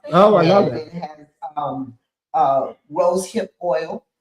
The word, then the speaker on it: Aitch: You can find me the. And a lot of times we have to spell it right. My last name is spelled Ai T C. It's not the letter, it is actually a word.